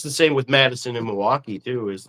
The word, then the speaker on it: Milwaukee: Are you going to Milwaukee? They're like, "What?" Milwaukee, you don't say the L.